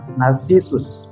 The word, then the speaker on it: Narcissus: Kalau dalam bahasa Inggris dibacanya Narcissus, makanya muncul istilah narsis.